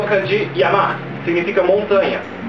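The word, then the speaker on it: 山: A leitura chinesa para ele é San, que é uma aproximação da pronúncia desse kanji na China. A leitura japonesa vem do significado desse kanji em japonês. Montanha em japonês é Yama, então a leitura japonesa é Yama.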